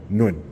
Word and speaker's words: Nguyen: Can you say it for me so I can know how to pronounce it? Stepping Win. Nguyen? Yeah. Nguyen.